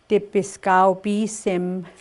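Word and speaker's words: tipiskâw-pîsim: What I'm going to just do the pronunciation. Okay. So ki sigao bi sim would be the sun. Dipiskao bi sim would be moon.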